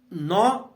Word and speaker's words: gnaw: तो नॉ जो शब्द है GNAW, नॉ, इसमें जी लेटर जो है जी साइलेंट रहता है, नॉ ऑफ मतलब काट देना, और ब्रेड्स माने चोटियां।